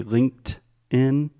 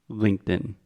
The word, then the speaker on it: LinkedIn: LinkedIn LinkedIn yeah so just imagine try it with the true T first Linked In Linked In okay now try it with a stop to Linked In linked and perfect it's almost like it doesn't even exist it's very subtle but it's super super important the different variations of